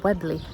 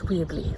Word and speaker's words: Weobley: Well, I have arrived in the village of Weobley. It's spelt W-E-O-B-L-E-Y. So you think it's Weobley or Weobley. Anyway, it's not. It's Weobley.